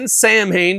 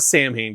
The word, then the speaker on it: Samhain: But we did see that they're releasing the Samhain, depending how you say it. I'm a Samhain guy. I prefer that. I think you sound like you're too full of yourself when you say Samhain.